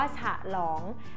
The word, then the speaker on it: ฉลอง: อย่าง เช่น คำ ว่า ฉลอง มัน ไม่ มี สระ อะ ใช่ ไหม คำ ว่า ฉลอง แต่ ว่า เวลา อ่าน ออก เสียง หรือ จะ อ่าน เหมือน เสียง สระ อะ บน อยู่ นะ คะ เป็น อ่า ซึ่ง เสียง